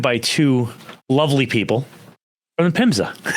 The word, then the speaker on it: PHMSA: fima yep that's a that's great question it's pronounced fimsa which but but we often get confused with